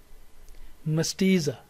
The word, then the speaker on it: mestiza: say with me messianic second word is mestiza here is the primary stress mastiza third word is metallic